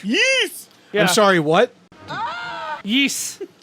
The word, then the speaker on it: Ys: Ys. That's how you pronounce it.